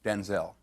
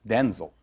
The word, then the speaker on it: Denzel: Because wait a minute, because my name's not pronounced Denzel. My name's pronounced Denzil.